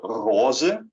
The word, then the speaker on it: roze: Pink, in Dutch, is called roze. Roze. So this is kind of different from how you would expect it to be pronounced, because we kind of stole it from French, and then kind of butchered it as we do.